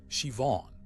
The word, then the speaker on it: Siobhan: I met a woman named Siobhan at a church fundraiser and learned her name is Irish and pronounced Siobhan.